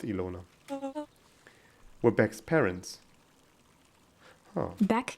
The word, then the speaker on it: Ilona: In German, this name is pronounced Ilona. I've never seen this in a non-German context, so I don't know what it's pronounced like in English. I'm gonna go with Ilona.